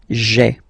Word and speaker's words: j'ai: Okay, so just to avoid pronouncing this je ai, because we think that in French it doesn't sound that beautiful, so we tend to take this e away, okay, so that you get this sound j'ai, j'ai.